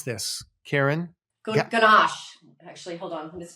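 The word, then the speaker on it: gouache: gach actually hold on there's there is a way to pronounce I'm not even gosh gosh I think gosh gosh I can say gosh yeah there's no really wrong way to say it people say it different ways but yes now are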